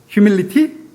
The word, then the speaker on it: humility: 휴밀리티? 라고 하면은 원어민이 아니고 휴밀리 안 되네요. 이거 T가 거의 묵음처럼 나죠.